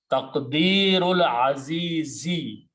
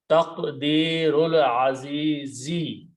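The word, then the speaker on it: تقدير العزيز: Don't pronounce this alif in between. Taqdeerul azizi. You have to make sure that you pronounce the correct harakat, otherwise the meaning will change. Taqdeerul azizi.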